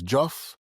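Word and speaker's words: Diouf: For anyone who wants a deep dive uh by Silivan uh Joff, her last name is Joff. It's spelled D I O UF.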